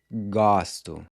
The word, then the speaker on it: gosto: So here, we see how the pronunciation of the O changes from a closed to open in the I form as well. So I like is eu gosto.